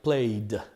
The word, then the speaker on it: played: Therefore, the correct pronunciation for this ED will be D. So the verb sounds like played, played.